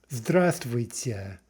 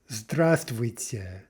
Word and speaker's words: здравствуйте: Note the spelling there. It's actually zdrav, zdravствуйте. But the v is not pronounced, right? It just drops out because it's hard to pronounce. This word is not very easy to pronounce generally. So what we actually say is здравствуйте, здравствуйте, with no v.